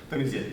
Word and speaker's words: Dionysian: How's this pronounced? Clive? Dionysian, thank you.